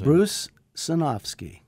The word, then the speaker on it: Bruce Sinofsky: say your name so everybody knows how to pronounce them correctly when they're editing their own questions Bruce sinowski and my name is Joe Berlinger before filming